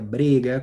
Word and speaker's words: brega: Porque no título do nosso encontro hoje tem essa palavra brega, que na verdade se pronuncia brega, com o E fechado, que é ao mesmo tempo um substantivo e um adjetivo.